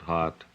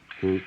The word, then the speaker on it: Haute: It's none of my business, but I think you're mispronouncing it. Hot. Hoot.